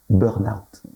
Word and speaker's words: burnout: Burnout. Oui, on ne prononce pas trop le R et donc le ça fait N.